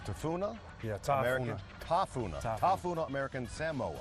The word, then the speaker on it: Samoa: American tauna tauna American Samoa s Samoa cuz see us on the states always go Samoa it's Samoa Samoa American Samo American Samoa